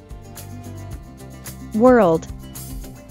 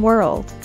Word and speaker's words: world: replace your husband world pay close attention to the pronunciation of the consonant cluster rld in world many languages do not